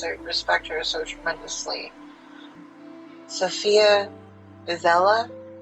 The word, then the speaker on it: Sofia Isella: Sofia Isella, I believe, is how her name is pronounced.